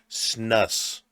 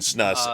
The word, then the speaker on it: snus: I'm just gonna say snus. Snus. Snooze. So somebody Is it else snus said that or it was snooze. Snooze. It is snooze.